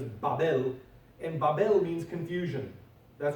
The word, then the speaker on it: Babel: Now you have Babel, the pronunciation is Babel, and Babel means confusion.